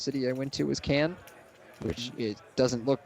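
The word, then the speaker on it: Cairns: I went to was Cannes which it doesn't look if you look the way it's spelled you're like why are you saying canned it's like c-a-i-r-n-s um David here going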